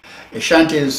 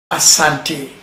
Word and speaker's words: Asante: Ashantis occupy about 10.2%. Now, what is Asante, or what normally is pronounced as Ashanti?